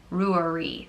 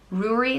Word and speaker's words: Rory: Honore means king so Rory Rory it also can be pronounced grew REE Rory like brewery but without the B or Rory and like